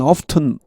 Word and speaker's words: often: 여기 often이라고 발음하는 사람도 꽤 있습니다. 원래 이 발음은 often T였습니다.